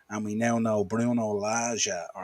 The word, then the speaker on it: Lage: 2, Wolves 0, and we now know Bruno Lage, or Laga, depending on how you want to pronounce it, has been shown the door.